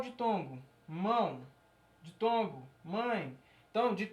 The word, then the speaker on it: mão: Mão. Você percebe que a pronúncia é pelo nariz. Mão.